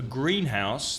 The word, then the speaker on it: greenhouse: what it could be but the stress would change a greenhouse the stress on the first syllable is inverted arrow but